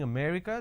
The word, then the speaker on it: America: delhi and all that now the correct pronunciation is if i have to break it down to syllables uh so there are four syllables now in northern part of the country they pronounce this as um so they drop a syllable instead of saying america they say i'm going to america for example the word